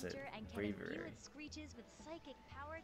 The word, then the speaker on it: Braviary: Braviary, that's how you pronounce it. Braviary.